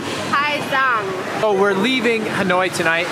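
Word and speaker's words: Hà Giang: it's pronounced Ha Giang.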